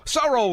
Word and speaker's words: Sorrell: end i'm afraid uh is that phil sorel or sorrell sorry so roll there we go i